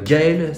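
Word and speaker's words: Gaël: avec le code Gael 15 et précision importante Gael ça s'écrit g A E l pas de ZLE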